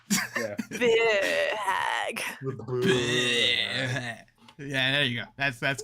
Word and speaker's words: Bheur Hag: Bheur hag.